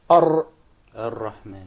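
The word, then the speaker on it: الرحمن: So say Ar-Rahman. Actually, you pronounced several Ra. It wasn't just one.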